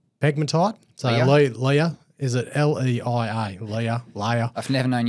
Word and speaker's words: Leia: So they released some drill results from the – I can't pronounce it – Hutt and Lee Pegmatite. So Leia, is it L-E-I-A, Leia.